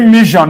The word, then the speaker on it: mission: Is it mission or mission? Mission. Because before this S-I-O-N, you have this consonant. Are you following, right? So it's shunned.